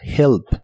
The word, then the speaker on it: help: y usaremos la palabra help, que como complemento significa ayuda. En este caso, estamos hablando del complemento y no del verbo ayudar, aunque se pronuncian igual. La H se pronuncia como una j suave, help.